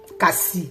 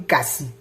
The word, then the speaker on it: cassis: Cassis, on dit cassis, oui. Pas me blesser, hein, cassis. Oui, à force de parler d'autres langues, on va tout prononcer jusqu'à la dernière lettre.